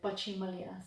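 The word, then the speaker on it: પછી મળીએ: So bachimalia. So that when I break it down is ba, chi, mal, ya. Bachimalia. Bachimalia. So that's how you would say it or pronounce it, bachimalia.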